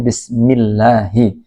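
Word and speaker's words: بسم الله: Ingat ya bacanya bismillahi. Nah, lafaz Allah iya itu diharakkati kasrah juga terakhirnya Allahi.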